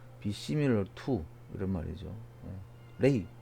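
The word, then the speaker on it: 类: 레이. 류 발음 안 돼서 레이라고 발음합니다.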